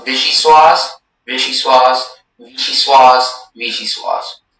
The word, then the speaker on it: vichyssoise: So we're going to pronounce vichyssoise, vichyssoise, vichyssoise, vichyssoise.